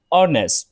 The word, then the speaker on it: honest: noun เนาะအဲ့တော့ they are rich သူတို့ကချမ်းသာကြတယ်ပေါ့နော် peasant are honest peasant ဆိုတာဒါကျွန်တော်တောင်သူလေလုတ်ဓမ္မခုတ်ဆိုတော့လေအဲ့လိုလယ်သမားတွေပြောတာเนาะလယ်သမားတွေက honest ပါဖြစ်လေဒီမှာကျွန်တော်တို့honest မဟုတ်ဘူးเนาะ h ကဒါ silent letter ပါအဲကြောင့် peasants are honest အဲ့တော့လယ်သမားတွေကဒါရိုးသားကြတယ်ဆိုတော့ဒါဥပမာအနေနဲ့ဒါပြောတာပေါ့နော်ဒါအကျမ်းအဖြစ်ကျွန်တော်ခြုံပြီးတော့ဒါပြောတာပေါ့နော်အဲ့တော့ဒီမှာ you are